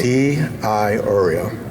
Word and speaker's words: DiIorio: D I Oreo. D I Oreo. So start to spell it and then pronounce the rest of it. D I then a capital I. Yep. O R I O.